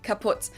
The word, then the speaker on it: kaput: moved to the us we spell it with two T's in Germany but we pronounce it the same way kaput and it basically has